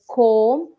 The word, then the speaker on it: comb: knife okay like a comb we say it's a comb it's not a comb okay so b is silent over here so mind it next